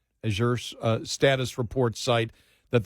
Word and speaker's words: Azure: there is it uh is it Azure is that how they pronounce it yeah as your uh status report site